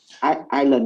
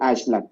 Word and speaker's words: island: Island, not Iceland.